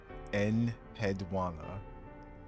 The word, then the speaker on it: Enheduanna: Enheduanna. Okay, that's how you pronounce that.